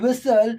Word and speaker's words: whistle: rule but it ha it is noticed in words like listen and whistle that the tall sound goes silent that the sound that